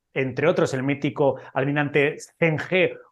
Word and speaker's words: Zheng He: otros el mítico almirante Zheng He o Chang Ha, como creo que se pronuncia en China, en lugar de tratarles